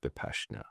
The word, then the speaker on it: Vipassana: So for people who don't know what Vipassana is, I think it's actually pronounced Vipassana.